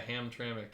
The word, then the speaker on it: Hamtramck: Hungary I'm gonna eat a sandwich is it Hamtramck oh yeah Hamtramck in Detroit how do you spell write it